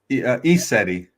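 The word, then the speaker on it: ECETI: I don't know if I'm going to pronounce this right. Isiti Ranch at Trout Lake. Yes, ETI. ESETI.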